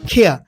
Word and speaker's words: care: CARE, এটা কেয়ার বলতাম, এটা হবে খেয়া।